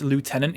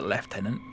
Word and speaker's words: lieutenant: Um, it's like how you pronounce lieutenant incorrectly and only to spite the f. I honestly skins. I hate that. I actually I actually sort of it makes me sort of turn inside out when people say a left tenant. Just say Lieutenant May.